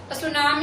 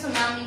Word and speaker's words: tsunami: ऐसे, ठीक है, इसे सुनामी कहते हैं। सुनामी में टी साइलेंट है, ठीक है।